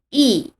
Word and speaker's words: 一: 的时候，一变为四声，读 e。